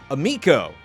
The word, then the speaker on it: Amico: Amico rhymes with amigo, not amico.